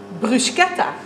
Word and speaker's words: bruschetta: Allereerst het woord bruschetta. Je zegt bruschetta en niet bruschetta. Bruschetta is namelijk een Italiaans woord en in Italië wordt de ch-klank als een k uitgesproken. Bruschetta dus.